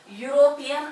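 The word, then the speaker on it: European: पहा इथे ई चा उच्चार आपण ए असा केला, इथं मात्र ई चा उच्चार आपण युरोपियन असा करतो.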